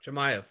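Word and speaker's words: Chimaev: So yeah, like you know, he was calling out I always say his name wrong, which how do you say his name? Chamay.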